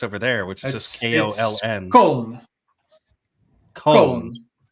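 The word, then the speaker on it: Köln: Well, there's like the spelling of the folks over there, which is just Koln.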